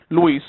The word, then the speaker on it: Luis: Luis, yes, that's the right pronunciation in Spanish.